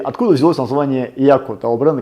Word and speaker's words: Yacco: Ну, по-французски это читается Yaku, поэтому будем сегодня в течение нашего всего видео называть бренд Yaku правильно.